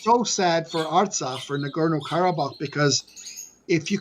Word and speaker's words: Artsakh: And so when you speak about, and I'm going to say it wrong, Asrakh, is that close? Nagorno-Karabakh, the Republic. Artsakh, yeah.